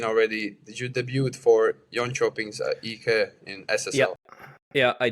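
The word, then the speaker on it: Jönköping: So David uh born in Yon Chopping, right? Yep. Very well pronounced.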